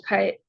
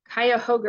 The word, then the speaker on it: Cuyahoga: nation's water races started in 1969 at Ohio's kite Cuyahoga River let me say it right since I'm